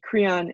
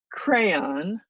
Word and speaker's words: Creon: pronounce okay then there's cron Creon is edus brother-in-law edus is married to a woman named jasta and cron is her brother so cron not crayon like somebody wrote on their test once cron I will try